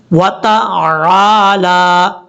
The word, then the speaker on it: وَتَعَالَى: وَتَعَالَى، چاہے آپ جلدی میں پڑھیں تب بھی اس کا تلفظ بہترین طریقے سے ادا کرنا چاہیے۔ کیسے؟ وَتَعَالَى جَدُّكَ وَلَا إِلَٰهَ غَيْرُكَ، اس طریقے سے۔ اب